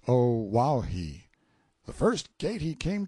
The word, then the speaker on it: Oahu: him after this island Oahu pronounced o wahi the first gate he